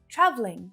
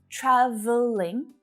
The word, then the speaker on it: traveling: It's the same with traveling. Traveling. So you'll hear traveling with that extra schwa sound in the middle, traveling. But to make it more efficient to speak quickly, reduce it down, cut it out.